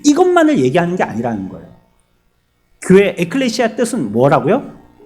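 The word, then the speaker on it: ἐκκλησία: 뭐라고 읽습니까? 교회를 여러분들 배우셨잖아요. 교회를 에클레시아 이렇게 부르잖아요. 에클레시아.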